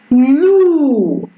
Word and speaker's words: loup: Et ça donne ou, cou, loup. Et c'est le P, ça ne prononce pas.